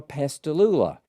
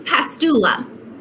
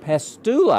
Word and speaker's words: Pastula: remind me again close pastula pastula i think i put an extra syllable in there so i've never heard